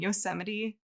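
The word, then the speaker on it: Yosemite: So a few years later, a group of park rangers set up a motionactivated cameras in Yusede.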